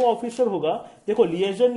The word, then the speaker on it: liaison: में आएगा, मेरे बाद एक शब्द रिपीट करना, लीएजन। क्या बोलेंगे? लीएजन, LIASION, that is the spelling basically.